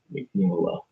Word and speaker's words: Mignola: But I'm not, because I'm not Mike Mignola. People get his name confused a lot. They call him Mike Mignola. If you watch any interviews with him, he's clearly saying Mignola.